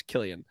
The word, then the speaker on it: Cillian: It's Cillian.